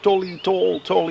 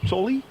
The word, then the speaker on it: Tolle: You pronounce it Freke. Yeah? Yeah, really. I always tell about Tim Freke, just like Eckhart Tolle.